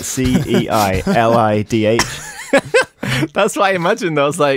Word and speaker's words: ceilidh: It's like, you know, Irish names are like all the consonants that you don't pronounce and stuff.